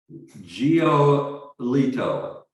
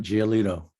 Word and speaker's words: Giolito: Can you pronounce his name for me? I would say Giolito. How's that? I think that's right. Giolito.